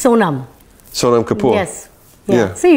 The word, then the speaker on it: Sonam: Because I get nervous about pronouncing it wrong. It's Sonam.